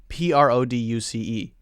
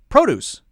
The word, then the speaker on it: produce: verb so perfect example noun PR OD UC e produce verb PR OD UC e produce second syllable is stressed obj ECT object object